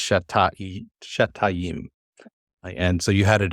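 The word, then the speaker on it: שְׁתַּיִם: Yes, Shetayim. Very nice. It's not an easy one to pronounce because most people try to do Shetayim, and it's not it's Shetayim.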